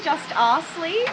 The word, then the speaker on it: Justass: to the Adelaide Fringe how do you pronounce it do you pronounce it like that I say the just asle okay so a little bit more of the pun of the Justice League sort of business but